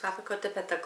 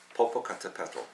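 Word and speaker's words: Popocatépetl: Can you say that, please? Papotto volcano. You didn't say it right. I did. Popocatapal.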